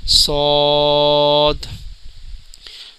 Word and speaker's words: ص: موٹا پڑھیں گے، اور اس کا صحیح تلفظ ہے، اس کے بھی اینڈ میں دال کی آواز ادا ہوتی ہے، صاد۔ ناظرین، یہ ہے دعاد،